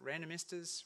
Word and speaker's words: Randomistas: it's no coincidence that random esters rhymes with sand and esters and as a famous